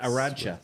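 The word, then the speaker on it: Arantxa: Arancha.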